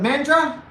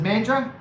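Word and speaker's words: Mandurah: busy and men men the Australians call it mandra but it's kind of spelled like mandura but I know that the Australians pronounce it mandra so it was really busy in Mandarin yesterday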